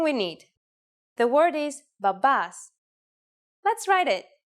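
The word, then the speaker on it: μπαμπάς: need the word is Babas let's write it if you notice that me and P together actually sound like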